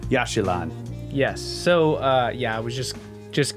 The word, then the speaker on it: Yaxchilan: So we're continuing on where we left off here, and you were wondering about this place I can't remember how to pronounce. Yaxchilan.